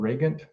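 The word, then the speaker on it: Regent: also a variety called reagan if you want the german pronunciation or we look at it as a region but it's actually a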